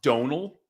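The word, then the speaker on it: Domhnall: i believe it looks like d-o-m-n-h-a-l but it's pronounced donal yeah yeah but he was in a movie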